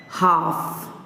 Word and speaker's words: half: Next, with L silent words, they are half, calf, halves, calves, talk, walk, chalk, folk, so on.